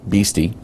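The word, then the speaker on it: Beastie: name is beasty uh play on the letters BSD beasty which can be pronounced beasty okay their mascot is called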